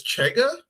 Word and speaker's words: Chega: But so, like there's a bill in Portugal, like I guess Chega is how you say it, the country's far right property or party.